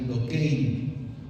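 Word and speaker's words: δοκεῖν: Ese verbo aparentar en griego se pronuncia dokein, y por eso se les llama docetas, por eso se le llama docetismo, partiendo del griego dokein, que significa aparentar.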